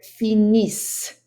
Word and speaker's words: finissent: Nous finissons, vous finissez, il, elle finissent. That ENT again is silent.